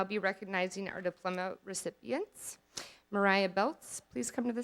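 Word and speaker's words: Maryah: For those of you that don't know, Mariah spells her name M-A-R-Y-A-H. I would often tease her during class about her name being pronounced Mary Ah instead of Mariah.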